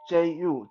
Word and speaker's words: 诛: fourth kind of execution, which is called 诛, Ju, 诛. What is 诛? In China, it's quite often, especially sometimes when an emperor pronounces an execution, the emperor will say 连诛九族, 连诛九族.